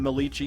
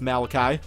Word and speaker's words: Malachi: I used to pronounce him Malichi and everybody got pissed off at me. I do know now it's Malachi.